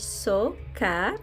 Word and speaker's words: Tsoka: So, my name is Tsoka, pronounced as Tsoka, okay?